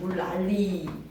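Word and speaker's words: 물난리: 물랄리에다 밑줄시고 물랄리라고 발음해 주시면 됩니다. 물랄리.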